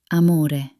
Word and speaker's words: amore: To say it correctly, open your mouth wide, as if you're at the dentist. A. A. Like in the most beautiful word, amore.